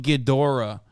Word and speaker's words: Ghidorah: You're supposed to pronounce the G in Ghidorah. Oh, King Ghidorah.